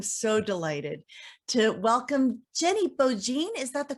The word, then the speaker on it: Beaujean: and so i'm so delighted to welcome jenny beaujean is that the correct pronunciation that absolutely works jenny beaujean how in the world are you today i